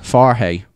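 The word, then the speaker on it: Farhey: far he far he far hey we didn't we yeah so he says he said he saw he said it's pronounced like f AR h ey that's how I says you should pronounce ah hey far he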